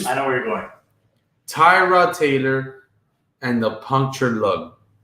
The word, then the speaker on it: Tyrod: The way he pronounces his name. So it's not Tyrod, it's Tyrod.